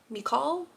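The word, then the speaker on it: Michal: am saying that wrong m i c h a l mall I know it's not pronounced Michael so no so anyway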